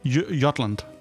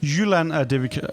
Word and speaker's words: Jylland: Jutland is the English. Jylland is what we call in Danish. Jutland. Yeah, Jylland.